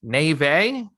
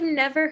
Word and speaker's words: Neve: quick what the heck Nave okay neither of us were right there's no way that's how it's na that's shot she's Canadian did you know that I did not there's I've never heard it pronounced that way all right I found a clip from Conan holy heck he said Nev okay we're gonna roll with Nev I was right it is Nev Campbell so Megan congrats we